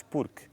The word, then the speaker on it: porque: Porque quando se diz porquê, escreve-se com acento circunflexo. Quando se diz porque, escreve-se sem acento. Já sabe pela própria pronúncia.